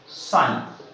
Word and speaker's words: psi: और इस जल विभव को ग्रीक भाषा के साइन, PSI, साइन, P silent है, S से इसे व्यक्त किया जाता है।